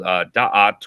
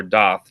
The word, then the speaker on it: Da'at: the secret Sephiro called Da'at or Dath, depending on how you pronounce it, D-A-A-T or D-A-A-T-H.